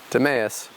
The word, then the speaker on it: Demeus: and I was like, Demeus is way cooler than Demus. So yeah, Demeus, which inadvertently most people pronounce as Demus anyways.